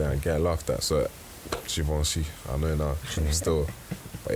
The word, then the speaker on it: Givenchy: It's Givenchy. Well, it's, yeah. Givenchy. There you go. Givenchy. It's I'll be getting like my tongue twisted and get laughed at. So, Givenchy.